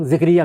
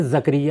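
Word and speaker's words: زکریا: کی مثال دیتا ہوں، ہمارے عام طور پر لوگ ذکریہ کہتے ہیں، یہ غلط تلفظ ہے، قرآن مجید میں زکریہ ہے۔ اسی طریقے سے بہت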